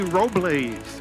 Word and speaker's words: Robles: Joseph P. Robles is how he pronounced his name.